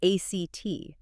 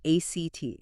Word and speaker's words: ACT: It's called acceptance and commitment therapy or act. And that's pronounced as one word, right? ACT.